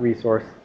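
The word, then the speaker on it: .rsrc: And dot RSC, dot resource, I just pronounce it like resource.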